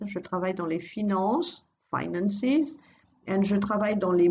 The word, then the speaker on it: finances: Je travaille dans les finances, finances. And je travaille dans les médias, again don't pronounce the S.